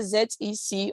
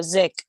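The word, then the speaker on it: ZEC: are all the coins you pronounce it the way you see it either z e c or zek wifey or i f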